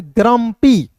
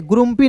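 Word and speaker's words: grumpy: जी आर यू एम पी वाई ग्रम्पी। ठीक है? ग्रुपी नहीं पढ़ेंगे। यहां पे यू जो है दोस्तों सला साइलेंट होता है।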